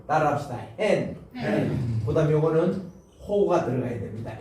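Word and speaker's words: ἕν: 강한 순표를 붙일 때는 반드시 발음을 히읗 발음을 내라는 거예요. 여기는 강한 순표죠. 그러니까 순표 가운데서 요거는 약한 거고 요거는 강한 거예요. 강한 거. 요렇게 나면은 n이 아니고 hen으로 읽어주라.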